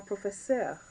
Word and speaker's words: professeure: So, le professeur, or la professeure. Yes, they sound exactly the same.